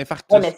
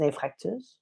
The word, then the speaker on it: infarctus: C'est infarctus. Infarct. Ouais. Ben, c'est parce que tu le prononces bien, parce que souvent. Ouais, Oui, mais infarctus. c'est infarctus, mais il faut que je prenne le temps parce qu'on s'entend que 95% du monde disent infractus. Ouais, exact.